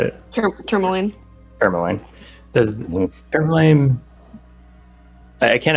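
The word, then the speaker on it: Termalaine: Tourmaline.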